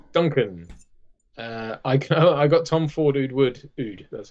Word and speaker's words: Oud: I got Tom Ford Oud, that's how you pronounce it, for Christmas.